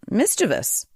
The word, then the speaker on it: mischievous: The answer is mischievous. Mischievous. I typically think of mischievous. Do you? Yeah, that's how a lot of people say it. But the actual right way to say it is mischievous.